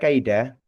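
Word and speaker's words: كيدا: bacanya kai bukan ke seperti e bukan tapi kai gitu ya. Vokal a dan vokal i itu dibaca secara utuh berurutan a dan i seperti itu ya kai kai seperti itu. Yakiduna kaida kai itu bacanya kai.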